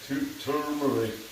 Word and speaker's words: turmeric: Scrape the turmeric. I've been kind of mispronouncing it because I've been saying tube, I think, is turmeric. There's an R. Turmeric.